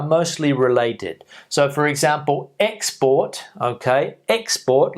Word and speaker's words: export: verb decrease decrease decrease export export export export escort escort escort escort so we can hear the difference the noun we're stressing the first syllable on the verb we're stressing the second syllable two syllable words so